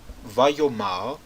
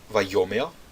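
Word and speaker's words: וַיֹּאמֶר: o acento no mar, mas como o Kal imperfeito consecutivo muda ou desloca o acento da última sílaba à primeira sílaba no 3ms, no 3fs e no 2ms, então aquela vogal tronco, patar, vai mudar a um segol. Esses três verbos aqui mudarão dessa forma: vayomer, vatomer e vatomer.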